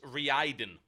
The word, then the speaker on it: Raiden: It's pronounced Reiden.